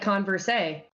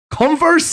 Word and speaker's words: Converse: you say converse oh I say like converse a converse I won't pronounce the e at the end what boys like so